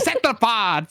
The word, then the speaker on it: cephalopod: It's a cephalopod. Cephalopod. That's right. Cephalopod.